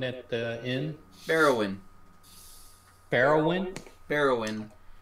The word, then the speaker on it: Bearuwyn: Barrowin. It's spelled Bearuwyn.